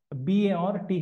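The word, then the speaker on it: Barthes: Dera B Roland Bart b a r t h s but is pronounced Bart then C Sigman Freud D Jack laon answer B Roland bot so when we say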